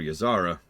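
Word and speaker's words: Ysera: await by the way they pronounced yara's name three separate ways in voice acting in this game so I call her yaara because it's the one that makes the most sense to me because there's not really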